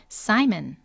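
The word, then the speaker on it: Simon: Z 는 아까 보셨구요 그 다음에 시몬은 영어로는 사이먼 자 그 다음에요 야고보호란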